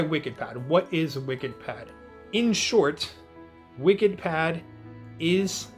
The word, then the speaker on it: Wikidpad: talking about today is called wicked pad if you're listening to the podcast and you want to know how to spell that it's wik ID PA d and this is a free